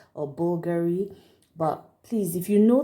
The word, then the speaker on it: Bulgari: this is Bulgari I hope I'm getting that pronunciation right I don't need to call it vulgari or Bulgari but please if you know the pronunciation please